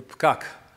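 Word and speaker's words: פקק: And speaking of words that begin with a P, Americans have a tough time pronouncing the Israeli word for traffic, or traffic jam, which is, if you try to practice this, if you don't speak Hebrew, pkak.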